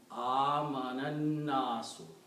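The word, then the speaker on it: آمَنَ: Because alif is not pronounced, so what happens to alif? We put little swad on it instead of this thing. That means it is now called Hamzatul Wasal, means do not pronounce it. So the pronunciation will be amanan-nasu.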